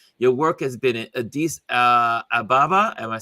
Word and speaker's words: Addis Ababa: Your work has been in Addis Ababa. Am I Yep. saying it right? Addis Ababa.